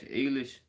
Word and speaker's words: Eilish: Eilish? Eilish. Billie Eilish. Kind of like eyelash, but okay.